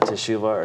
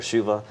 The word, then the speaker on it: teshuvah: so we are in uh teshuva or shiva depending on how you prefer to pronounce it uh it's based on